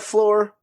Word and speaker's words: Floor: That's lore with an F at the beginning. So it sounds like floor, but it's not the floor you're thinking because it's our floor.